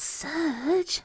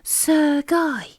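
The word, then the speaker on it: Sergei: he exclaimed and surprised he's not surge said judy it's pronounced sir guy sukhoi oplemoth repeated paddington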